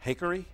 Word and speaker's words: Hakery: Metro Times and Chris Hakery. He said it rhymes with bakery.